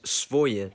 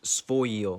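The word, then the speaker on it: своё: It's written as svoye, but it's actually pronounced svoyo.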